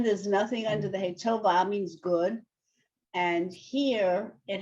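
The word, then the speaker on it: טובה: Tova. Right. The hey is silent at the end of a word unless there's a vowel. So here there's nothing under the hey. Tova means good.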